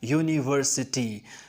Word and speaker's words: university: Similarly, the sound of U in the word university is also Y-O-U-U. It is pronounced as university. So it is a university, not an university.